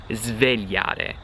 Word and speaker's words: svegliare: When you're saying those two verbs, you have to pronounce the S like a Z, like a Z. Sbagliare, zb, and then svegliare, zv, okay? Completely normal, that's the proper way to do it.